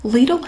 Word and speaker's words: Lidl: Lidl has a really good paper towel, and it is pronounced Lidl in the USA.